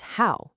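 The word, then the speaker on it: 好: The second character is hao, pronounced hao, which means good or well or fine.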